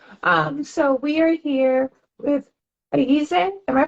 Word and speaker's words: Ayize: So we are here with Ayize. Am I pronouncing that 100% right? Yep, Ayize.